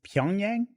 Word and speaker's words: Pyongyang: It's Pyongyang. Yes. Is that guy right? Yeah. All right. Look at me. Pyongyang.